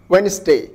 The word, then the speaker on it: Wednesday: Handkerchief sandwich wednesday xarafka da ayaa dhawaaq ahaan la qarinaya marka